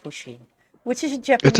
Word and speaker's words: Pusheen: Sheen I think it's pushing I think it's pronounced Pusheen which is a Japanese